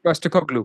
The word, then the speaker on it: Postecoglou: Yeah, Postecoglou. Postacoglu, Yeah. yes. No, I know this pronunciation.